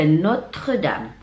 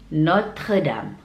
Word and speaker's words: Notre Dame: Kemudian berikutnya ada Notre Dame. Notre Dame. Notre Dame.